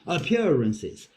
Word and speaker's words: appearances: I know the word appearances appearances I I pronounce i purposes appearances yeah so so the emphasis is on the second syllable appearances appearances however Center